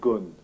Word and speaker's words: Ghosn: euh pour plus raison le nom est venu des États-Unis parce que le le le R est très difficile à prononcer et le s est aussi encore plus difficile à prononcer donc les Américains ont utilisé le terme gone monsieur gone oui c'est